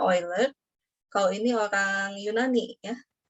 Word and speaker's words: Euler: Kalau ini EU-nya dibaca OI. Kalau yang ini dibacanya apa? Dibacanya U. Kenapa yang ini orang saya lupa Swiss gitu jadi dibacanya Euler.